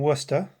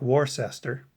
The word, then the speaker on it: Worcester: from pawtucket rhode island if you look at the name of the team it looks like warcester so when that announcement